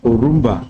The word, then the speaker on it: Orumba: Like she said, I'm Orumba. That's the pronunciation of the name, Orumba.